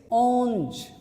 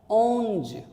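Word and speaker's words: onze: So 11 is onge, again nasal sound, onge.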